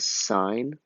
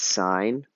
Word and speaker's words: sine: sine cosine and tangent even though it is abbreviated it's not pronounced sin do not say sin it's signed because there's an e